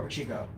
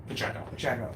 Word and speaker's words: Pacheco: Orlando Pacheco or Pacheco? Pacheco. Two pronunciations. This is. Yeah, depending on where you're from. If you're from like the Cape, you say it one way. If you're from the North Shore, you say it a different Well, way.